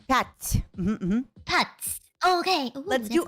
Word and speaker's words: пять: Пять. Wait, dots or butts? Пять. With a P. Pet.